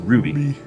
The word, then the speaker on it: RWBY: as red versus blue and RWBY which is pronounced Ruby Ru yeah they specialize in like short films